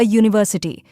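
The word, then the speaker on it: university: शुरू होती है और अ यूनिवर्सिटी क्योंकि यह यू की आवाज से शुरू होता है जो कॉन्सोनेंट जैसी है।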